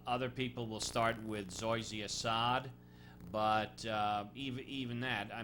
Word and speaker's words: Zoysia: Are you familiar with, is it pronounced Zoya grass? Zoysia. Zoysia.